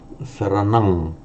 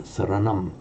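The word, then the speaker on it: saraṇaṃ: So to say, on its own, buddhang, saranang, at the time of the Buddha, and certainly it probably was pronounced, and in Sanskrit we know that it is pronounced as a buddham and a saranam. Now, what happens to that sound when another word follows? So at the end of a word group on its own, for Pali, pronounce it as an ang.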